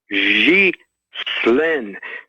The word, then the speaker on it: Ghislaine: It's Ghislaine. It's hard to say a G with a Z, but a G, think of Xi Jinping.